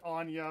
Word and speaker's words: Anya: I'll say it Anya because you pronounce it Anya with the accent over the end otherwise that the accent the Anna oh let me stay